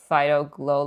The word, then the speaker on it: Phyto Glow: This is how you say it, Phyto Glow Lip Mask.